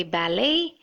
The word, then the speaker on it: ballet: Remember, we had seen ballet in our previous lesson? It's similar to that. The T is silent. Just like how you would say ballet, this should be buffet,